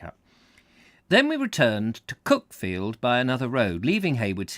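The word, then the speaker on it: Cuckfield: their spelling thus cook field is called locally cook field as opposed to cck field as it's spelled and we found afterwards the name of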